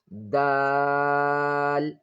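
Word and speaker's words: دال: Then dal. Dal. This is dal. The outlet of dal, the tip of the tongue, touches the upper front teeth area quickly.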